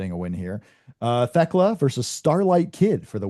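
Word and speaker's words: Thekla: I don't know, but uh I think Teka wins this. But I I I think it's kind of intriguing that Starllight Kid could get a win here. It's pronounced theckla.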